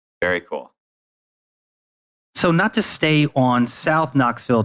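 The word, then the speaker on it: SoKno: so everybody knows the the neighborhood name of sono is spelled like like knoxville so it has the k in it so it's s-o-k-n-o i think that's an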